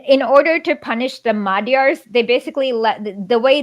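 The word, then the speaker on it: Magyar: called like magar oh it's pronounced like more like a d it's Madar yeah that that's right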